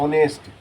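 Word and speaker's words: honest: एच का उच्चारण नहीं करते हैं। ऑनेस्ट का करते हैं।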